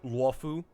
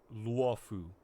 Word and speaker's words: Luofu: And if people have trouble saying Luofu, then skill issue. Why don't you go back yourself? Like, I took the time to learn how to say it. Luofu.